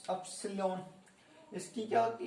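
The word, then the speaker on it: upsilon: इसकी प्रोनाउंसिएशन होती है अपसिलोन।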